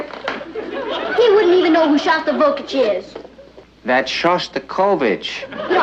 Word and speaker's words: Shostakovich: He's taking me to hear Shostakovich tonight. Honey, I think that's pronounced Shostakovich. We'd like to meet Eddie.